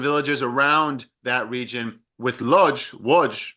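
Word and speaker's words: Łódź: So we had villages like Kolo, Bugaj, Izbica, these different villages around that region with Lodz, right?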